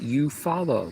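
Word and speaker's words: Eufaula: And Sam says, "It's pronounced you follow."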